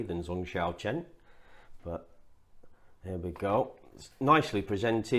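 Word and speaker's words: Zong Xiaochen: And apparently, it's Zong Xiao Chen. Zong Xiao Chen.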